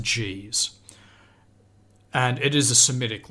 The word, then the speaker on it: Ge'ez: It was only used in one localized area, and it's called the Ge'ez. I'm not sure how you pronounce it. I think it's actually pronounced G's.